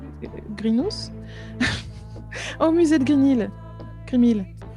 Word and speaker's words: Grimhill: Grimil. Pas Grinil.